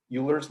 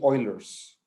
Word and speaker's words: Euler: So in Spanish, we call him Euler, because we in Spanish, we pronounce all of the vowels as they are. In English, sometimes some people refer to him as Euler's number. But actually, if we're going to use the correct pronunciation, it should be Euler's number, Euler's number.